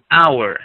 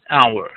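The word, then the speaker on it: hour: that's why we said our it's pronounced our okay the H is silent hence we can say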